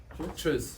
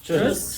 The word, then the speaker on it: Tschüss: Toots? Tschüss. Tschüss.